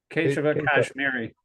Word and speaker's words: Keshava Kashmiri: How do you pronounce that name? Keshava Kashmiri.